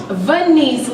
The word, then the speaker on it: Venise: Venise, like Denise, but with a V.